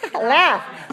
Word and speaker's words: laugh: that la you GH there's no g-h sound right it's an F sound so this one laughs and rough and tough and enough the GH all have the sound as in F same sound is that